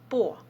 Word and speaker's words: по: language, you would add prefix по, but we pronounce it like it's like па.